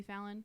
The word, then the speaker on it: Fallon: Is that how it's pronounced? Ion. Fallon. Like Jimmy Fallon.